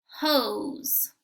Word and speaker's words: hose: There's that super silent E again, so I'm going to make sure that I do not say the sound for silent E. O, S, hose. There's a picture of a water hose.